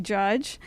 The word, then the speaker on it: Jha: name is Dr judge uh it's spelled a little differently jha AJ but pronounced like just like a courtroom judge that's what I tell